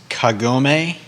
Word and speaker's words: Kagome: I had to look it up, and I looked up the pronunciation as well. So it's Kagome, Yeah, that's Right.